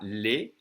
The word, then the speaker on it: les: Elle a les as opposed to le, okay? Remember the singular is le, pronounce le, and this is les.